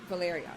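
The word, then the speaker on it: Velaryon: Valerian. I want to make sure I'm saying it right because there's... That's right. Valerian.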